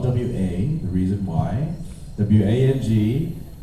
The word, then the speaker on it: Wang: w-a the reason why w-a-n-g and w-o-n-g are both pronounced wang but w-o-n-g is southern